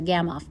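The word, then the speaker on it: Gamow bag: We're trying to get Francis into a gamoff bag. Francis was the guy who grunted at the noodles. A gamoff bag, pronounced Gamoff, was invented by Igor Gamoff in the late 1980s and has saved a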